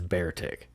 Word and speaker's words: Beartic: probably am okay uh trainers were unsure if its name should be pronounced be artic or bear tick it appeared several times throughout the anime each time being referred to as bear tig i'm sorry ty i'm